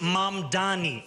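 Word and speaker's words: Mamdani: And furthermore, the name is Mam Dani. M A M D A N I.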